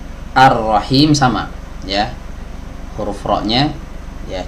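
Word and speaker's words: الرحيم: diet tidak dibaca begitu juga huruf lam yang ada di sini tidak dibaca karena dia bertemu dengan huruf ra yang tasydid kasusnya sama seperti ya sebelumnya ar-rahman ar-rahim sama ya huruf roknya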